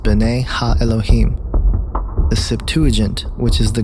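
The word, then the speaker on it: בני האלוהים: of God mentioned here in the Hebrew is pronounced Bonet ha Elohim the Septuagint which is the Greek translation of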